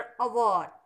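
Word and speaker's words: hour: Letter H है लेकिन इसका प्रोनाउंसिएशन अवर होगा, हवर नहीं होगा।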